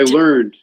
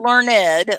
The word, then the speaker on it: learned: end sentence learn i learned not i learned learned oh that's a good one learned not learn ed learn ed is something else it means you're very smart but i learned one syllable blocked thank you not